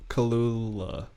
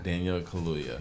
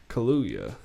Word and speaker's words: Daniel Kaluuya: way it's spelled but you just gotta think of it phonetically yeah kaluya hallelujah i uh no it